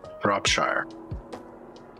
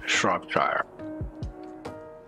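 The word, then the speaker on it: Shropshire: at the map where is it right here prop shire but this is pronounced shrop dryer okay all right you have to go we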